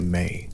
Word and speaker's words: me: The mi pronounced something close to may referred to the fundamental laws and institutions of civilized existence.